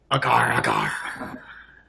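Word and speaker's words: agar agar: Hey, Gary Gay, you say it like the pirate. Do it. Agar, agar.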